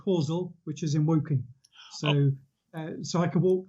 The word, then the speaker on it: Woking: there in your area and you said it's pronounced working uh woking yes so many years ago before i was